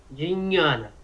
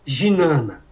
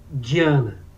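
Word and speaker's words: ज्ञान: Nunca ginana, que todo mundo fala ginana yoga. Nunca dinhana. Mas nós podemos ver que existe regionalismo na Índia. Dependendo do local da Índia, esse dinha, de Jnana, é pronunciado diferente. Na Bengala, essa pronúncia que você colocou agora, já para você falou Diana, que lembra muito o cognato gnose, né? Diana. Essa é a pronúncia da bengala.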